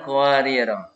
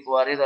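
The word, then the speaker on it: قواريرا: Kemudian pelajaran qawariro. Jika wakaf di akhir ayat 15 yang ini, ro-nya dibaca panjang. Awal ayat 16, ro-nya dibaca pendek. Ya, lanjut ya. Kemudian jika dibaca wasal, kedua ro-nya dibaca pendek. Jika wakaf di qawariro yang kedua, ro-nya dibaca sukun.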